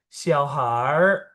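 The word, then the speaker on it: 小孩儿: Jadi dari xiaohai, I-nya dibuang. Jadi xiaoha-er. Xiaoha-er. Digabung. Xiaohar, har, ha-er, ha-er. Har, xiaohar. Ini juga ya, xiaoniao.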